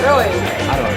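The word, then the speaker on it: อร่อย: Aroy.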